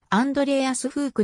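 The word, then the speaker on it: Andreas Hug: 1 グランプリ 96 王者ドイツ語読みではアンドレーアスフークの発音が近いピーターアーツアーネストホースト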